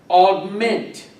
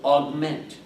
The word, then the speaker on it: augment: Again, augment. Accent on the second syllable, augment.